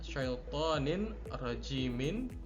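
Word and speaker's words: شيطان رجيم: Yang keempat ada syaitanin rajimin, cara bacanya adalah syaitanir rajim.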